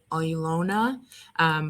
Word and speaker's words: Ilona: correctly yeah no worries this is ilona ilona leona yeah yeah that's correct yeah no worries i never